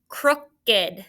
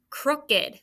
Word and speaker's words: crooked: And this part could be tricky because it sounds like we say crooked, but it's a schwa.